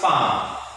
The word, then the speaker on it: palm: Same thing here. Like calm, it's palm.